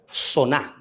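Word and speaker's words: זונה: hebreas y se dice y se pronuncia soná. Diga conmigo, soná.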